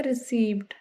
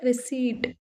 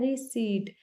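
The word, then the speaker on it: receipt: इसको ज्यादातर लोग बोलते हैं रिसीव्ड। लेकिन सही वर्ड है रिसीट। रिसीट means रिसीट। इसमें पी साइलेंट है। इसको बोला जाता है रिसीट।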